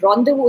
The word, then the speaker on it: rendezvous: But normally the word rendezvous, again, rendezvous is again a French word, which means you don't pronounce it as res then was, So rendezvous